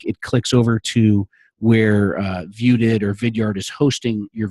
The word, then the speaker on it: ViewedIt: So it also is spelled View Edit, but it's really pronounced Viewed It.